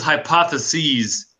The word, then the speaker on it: hypotheses: Okay, if you look at that hypothesis here, when it ends in es, that means more than one. That means plural. Okay, that says hypotheses. That's how we pronounce that.